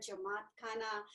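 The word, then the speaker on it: jamaat khana: and so this is is that's called a jawakana or how do you say that yeah yeah we call it a jamaat khanna sorry it literally means um house of people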